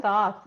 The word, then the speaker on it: Thoth: while ago, and it has to do with Thoth. Is that how you pronounce it? Yeah, Thoth.